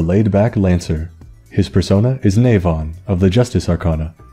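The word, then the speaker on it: Nemain: His persona is Navon, of the Justice Arcana, a being in Irish myth, so that explains why the pronunciation is a bit weird.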